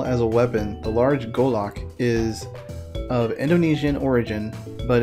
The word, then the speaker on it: Golok: The way they spell it is G-U-L-O-K, but the description of the weapon spells it G-O-L-O-K.